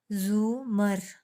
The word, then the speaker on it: زمر: بھی ملاقات ہوئی تھی۔ اس نے البتہ زمر کا نام غلط تلفظ سے بولا تھا، ارے کے اوپر زبر کے ساتھ۔ اف، اٹس زمر، زومر زے کے اوپر پیش ہے، اس نے توڑ توڑ کر بتایا۔ وہ خاتون اچھا اچھا